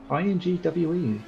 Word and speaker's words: Ingwe: I-N-G-W-E is the spelling, and I'm pronouncing it Ingwe, so hopefully not badly pronounced.